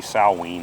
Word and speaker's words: Samhain: If you were to write it out, it sounds like it's spelled Samhain, but it's actually Samhain.